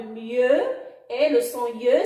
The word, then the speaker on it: mieux: Mieux. Alors le X toujours muet à la fin de mieux et le son ye s'écrit avec I-E-U.